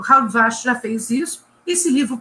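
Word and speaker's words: Halbwachs: do Durkheim, chamado Maurice Halbwach. Eu estou falando o nome na pronúncia francesa, não sei como é que se pronuncia isso no Brasil, nem como se pronuncia nos Estados Unidos.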